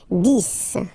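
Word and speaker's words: dix: 10, okay, so remember, final X here is pronounced like S, 10, 10, okay, then 11.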